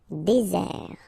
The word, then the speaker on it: désert: Okay, remember, final T not pronounced. Désert. And really this Z sound just because you get one S between the two vowels. Okay, Z. Désert.